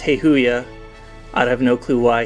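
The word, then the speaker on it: Hayoa: H A Y O A, but it's pronounced Heihoya.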